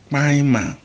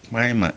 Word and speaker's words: kpainma: But when something is neatly, we say maima, do it neatly. Maima ni ye. Now, maima is spelled KPAINMA.